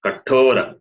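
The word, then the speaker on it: कठोर: You see how I pronounce kathora. Tha is mahaprana.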